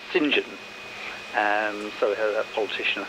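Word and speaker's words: St John: particularly the saints so so saint john is sinjin and so that politician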